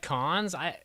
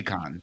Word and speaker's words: Cannes: Cons? It's supposed to be Cannes. Is it Canes? No, it's Why- Cannes. And why do we have to have I these- believe the S is silent, too.